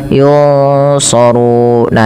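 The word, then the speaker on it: يُنْصَرُونَ: Jadi menyamarkannya ke huruf bukan hanya sekedar yung gitu ya, tapi yun langsung ke makhraj daripada huruf shad ya. Yunsarun.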